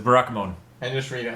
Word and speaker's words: Barakamon: It's Barakamon. I just read it like it's a Digimon character that looks like Barakamon.